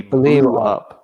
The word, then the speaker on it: blew: tense it would be blue blue yeah it could be pronounced for me blue it sounds like the color blue right it's blue okay so